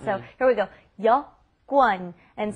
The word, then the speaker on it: 여권: And that's that important vocabulary word that apparently seems very hard to pronounce. So here we go. 여권.